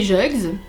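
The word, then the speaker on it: Juges: Ça s'écrit juge avec S, mais c'est lui qui nous a dit que ça se prononçait comme ça parce qu'on a prononcé de plusieurs façons jusqu'à ce qu'ils nous disent oui c'est ça.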